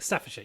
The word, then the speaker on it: Staffordshire: So we have a message this month from Matthew Vernon out in Staffordshire, I think is how it's pronounced. Staffordshire, yes.